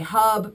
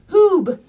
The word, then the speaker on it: Huub: I think a lot of people in America wonder how to say this, or they say Hub, but it's Huub.